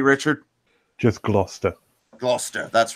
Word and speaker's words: Gloucester: Yes, it looks like Gloucester, but it's pronounced Gloucester. Or am I getting that right, Richard? Just Gloucester.